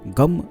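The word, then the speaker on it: गं: गम जो बीज मंत्र होता है, यह भगवान श्री गणेश का बीज मंत्र होता है। काफी लोग इसे गण बोलते हैं, काफी लोग गम बोलते हैं, लेकिन इसका सही उच्चारण गम होता है।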